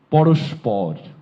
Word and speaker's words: পরস্পর: পরস্পর পরস্পর। পরস্পরের উচ্চারণ জানতে চেয়েছে। এটির উচ্চারণ হচ্ছে পরস পর পরস্পর কিসের?